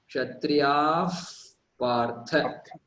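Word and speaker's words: क्षत्रियः पार्थ: before pa and pa, then the pronunciation of Visarga changes to the letter F in English. F. So Kshatriyaha Partha is there, and if you pronounce it together, it will become Kshatriyaf Partha.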